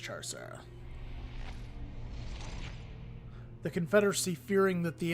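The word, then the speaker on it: Chau Sara: I think it's pronounced Char-Sara.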